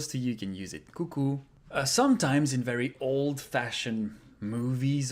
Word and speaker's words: coucou: Coucou. Coucou. That one's easy, Coucou. brother. Coucou. So here again, we pronounce everything. O and U together are pronounced ou. Coucou.